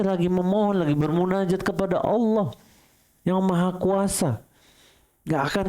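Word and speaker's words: الله: Yang dibaca panjang itu lafaz Allah, Allah gitu ya, bukan akbar, itu salah.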